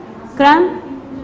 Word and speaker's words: crumb: Number 1 is lamb, comb, climb, crumb, thumb. When we say these words, we don't pronounce B because B is a silent word.